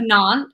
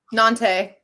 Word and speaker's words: Nantes: And it is connected to the hip port city of Nantes. How do you say it, Brett? You said it earlier. Nantes. Nantes.